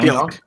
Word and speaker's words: Pionk: Yeah, Pionk.